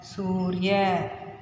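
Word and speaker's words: सूर्य: So su ir ya, surya. How to pronounce? Su ir ya, surya.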